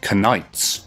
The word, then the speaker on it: knights: very interesting is that Knights used to have the K pronounced back then it was also spelled